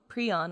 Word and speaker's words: prion: You Google prion or prion, both like the protein fold that kills you come up, and also like some species of bird in the southern hemisphere. I've always pronounced it and heard it as prion. Me too, but I Yeah. think both are acceptable.